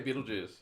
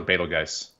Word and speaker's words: Betelgeuse: I say Beetlejuice. Oh, you say Beetlejuice? Okay. I do like the movie. So, Beetlejuice? Yeah. I was go Betelgeuse. But I think either way is actually correct now.